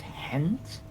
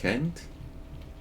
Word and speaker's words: Gent: Is that pronounced hent? Well, I mean, I believe around the area most people pronounce the G as as a H.